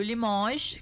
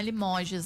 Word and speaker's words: Limoges: E o limoge que é, não é limoges, né? França, Francisco come o S no final, ele não pronuncia.